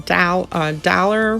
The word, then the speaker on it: Daler: i'm pronouncing it correctly i want to say dollar but there's no w in there so i'm going with that uh the next color